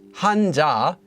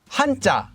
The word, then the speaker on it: 한자: should also note that it's not pronounced as hanja it's pronounced as hanta you might be wondering or maybe you're not